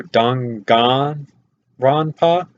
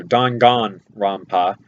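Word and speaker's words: Danganronpa: to say it um I usually say it with a c instead of a ga so I go dang Rona which does not sound correctly because it's spelled with a G so dongan Roma is what Monokuma is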